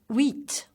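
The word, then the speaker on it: huit: well done read so we'd never pronounce the H in French so wait again read nuff pronounced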